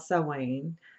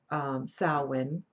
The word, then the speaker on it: Samhain: So when we look at Halloween, we're looking at a tradition that's actually called Samhain. Samhain.